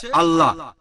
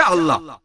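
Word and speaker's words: الله: একইভাবে আমরা জানি সঠিক উচ্চারণটা হচ্ছে আল্লাহ। তারা বলে এলা, আমরা বলি আল্লাহ। সমস্যা নেই, সঠিক উচ্চারণটা হচ্ছে আল্লাহ।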